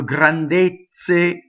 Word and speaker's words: grandezze: So grandezze is a closed E. Now ZZ can either be pronounced as the Z in pizza or the ZZ in mezzo.